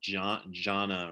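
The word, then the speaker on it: ध्यान: represents a Sanskrit word dhyana, which is just, it was just a character they created to represent this Indian word, which dhyana is usually translated as meditation, but also you can pronounce it jhana, or which in which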